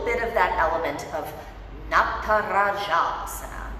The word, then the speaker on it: Natarajasana: of that element of not para shops that's how you say this word that means dancers pose and it's exceptionally importantly pronounce this word right because it's not just a word somebody's name so lift up opposite